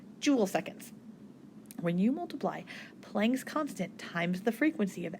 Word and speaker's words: Planck: this one is called planck's constant and it's not plank like a board of plank after the guy so it's spelled a little bit differently but planck's constant is